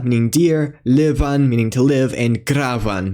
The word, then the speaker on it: liban: And voiced by labial fricative v immediately after vowels, as in liuva meaning deer, livan meaning to live, and gravan meaning to dig. The letter D may also be pronounced in two ways.